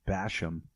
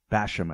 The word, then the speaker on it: Bassham: bashing yourself yeah so lanny's last name is like bass like the fish b-a-s-s and ham as in the meat basham i think he pronounces it though and uh i